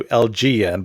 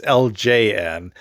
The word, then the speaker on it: LJN: So I was noticing in my previous episode that when I was talking about this company, I kept referring to them to LGN, but it's LJN.